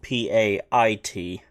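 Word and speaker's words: payt: Spelled P-A-Y-T, pronounced P-A-I-T. Pait.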